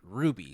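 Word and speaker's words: RWBY: Teeth um we're talking about Ruby spelled r WBY y do you actually know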